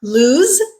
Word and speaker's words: lose: lose in them remember lose is a verb the letter s in this word actually makes the Z sound lse it rhymes with